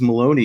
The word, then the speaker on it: Malowany: print of pronounced Maloney though I it is pronounced Maloney yep so how is how was the weather